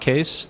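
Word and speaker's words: Kees: It's pronounced Case. The spelling is Dutch, and it's my grandfather's fault, but you can see me on Twitter there.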